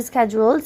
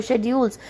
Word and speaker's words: schedules: This means we can fit learning into our busy schedules or schedules. Both pronunciations are correct. And still have time. One is American accent and then the other one is British accent.